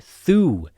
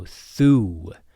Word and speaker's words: þú: And then þú. So we have a thorn which is our other th sound and this is the devoiced th like in thunder. So þú.